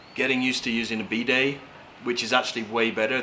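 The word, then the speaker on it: bidet: every day yeah and it's pronounced b day or b day like birthday like yeah i guess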